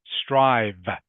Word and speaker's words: strive: try strive strive okay you have to pronounce the V sound strive strive and remember strive means